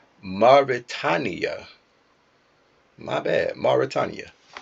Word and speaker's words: Mauritania: Mauritania. My bad. Mauritania. Like Mari Povich and then Tanya.